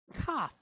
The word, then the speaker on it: Kaf: And so that's where we get this, the name for this letter is Chaf. But when it has the dot, it's Kaf. Hear the difference? Chaf versus Kaf.